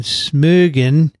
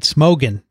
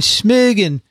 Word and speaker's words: Smögen: Now, Sophia came up to me at the meeting in Smögen and said, "I love saying that." Well, look, they taught me how to pronounce it because I said Smogen, right?